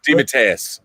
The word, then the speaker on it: DeMatteis: How do you pronounce the last name? DeMatteis.